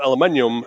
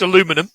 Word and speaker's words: aluminum: and originally made of aluminium, but changed to plastic. That's it. I think you'll find it's pronounced aluminum, but yeah, that's fine.